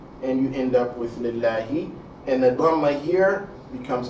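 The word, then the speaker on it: لِلَّهِ: So your pronunciation of the lamb here, the second lamb, not the first lamb. The lamb of concern is the second lamb, not the first lamb. Is, again, la instead of law.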